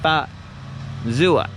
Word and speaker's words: Fazua: I did ask them, like, how is it pronounced? And they said you kind of separate the two, like Fazua. But in the US, people are probably just gonna call it the Fazua motor.